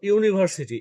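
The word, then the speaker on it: university: Example বলি, যেমন ধরো ইউনিভার্সিটি, ইউটা তো ভাওয়েল, কিন্তু প্রোনাউন্সিয়েশন দেখো ইউ এর মতো হচ্ছে, যে তার কারণেই ইউনিভার্সিটির আগে এ বসবে।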